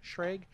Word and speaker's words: Schrage: But I think we should start with definers, which the head of communication and policy, Elliot Schrage, I think is how you pronounce his name. Schrage. Yeah, Schrage. Yeah.